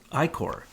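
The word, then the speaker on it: ichor: this I see hor how do you pronounce that I Corre Corre like I Corps so i kora was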